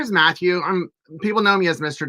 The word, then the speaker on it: Mathew: Yeah, my name is Matthew. People know me as Mr. But if you say Matthew, it's with one T, so make sure you pronounce it right. It's not pronounced differently.